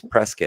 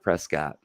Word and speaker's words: Prescott: that's what Arizona does presc right presc yeah but it's but it's spelled Prescott you know yeah when I read that that's how I read it Prescott yeah um so little